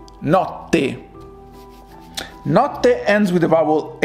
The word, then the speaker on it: notte: Remember, in the middle there are two strong T's. So it is notte, notte.